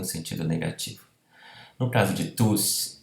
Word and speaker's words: tous: No caso, então, como pronome ao final de frase ou antes de pausa, o S se pronuncia.